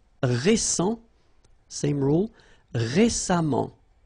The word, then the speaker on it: récemment: So as I told you, even if you write it E-M-M-E-N-T, phonetically it goes like amant, patiemment. All right. Récent, same rule. Récemment, récemment, récemment.